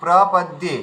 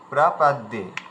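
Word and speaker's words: প্রপদ্যে: বোন দীপ্তি বোন হ্যা এই প্রপদে এই জায়গায় আপনার উচ্চারণে ভুল হয়েছে ঠিক আছে প্রপদে প্রাপদ্যে ঠিক আছে আচ্ছা আরেকটা ব্যাপার হয়েছে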